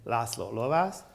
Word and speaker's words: László Lovász: And then there came László Lovász. You know, so this is a fellow Hungarian, so the pronunciation of his name is really László Lovász.